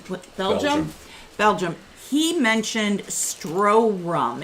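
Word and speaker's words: Stroh: proof R 160 proof it's called stro so you think of the the beer stros spelled the same way stro rum that's like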